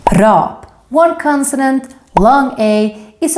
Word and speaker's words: rap: up is double consonant short a is how we say the music style rap in Swedish Rob one consonant long a